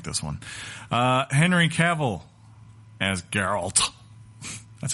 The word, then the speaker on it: Geralt: I don't like this one Henry Cavill as Geralt that's how you say it by the way